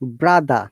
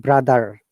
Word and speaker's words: brother: you have to first, remember that you don't need to use letter R. You have to just avoid it, like brother, not brother. Americans will say, like Monica uses American accent. She says brother, but if you like to develop British pronunciation, you have to say brother.